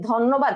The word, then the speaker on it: ধন্যবাদ: আচ্ছা আমরা কি বলি যে ধন্যবাদ, আপনাকে ধন্যবাদ এভাবে বলি, নাকি আমরা কি বলি তোমাকে ধন্যবাদ, ধন্যবাদ। তাহলে দেখা ধয়ের সাথে কিন্তু একটা ও কার চলে আসতেছে অলরেডি আমাদের কথার মধ্যে, ঠিক আছে।